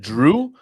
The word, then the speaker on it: Jrue: While he was in Milwaukee, Is it Drew or is it Jrue? I I pronounce it Drew, but it it spelled Jrue. I don't know. Maybe I'm pronouncing it incorrectly.